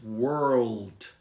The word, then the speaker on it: world: how do you say because you have to put your tongue up so can you tell that so it takes practice but the word is world and your tongue does touch the top of your mouth world yes so that